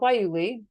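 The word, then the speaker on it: guayule: on a plant called waili and that's spelled with a G is g-u-a-y-u-l-e so if you've ever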